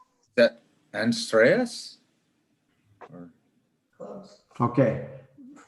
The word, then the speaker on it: Andreas: So It's Andreas.